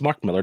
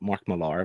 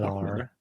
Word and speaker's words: Mark Millar: That's Mark Millar, not Mark Millar, by the way. People pronounce his name quite wrong all the time. It's Mark Millar. It's not French.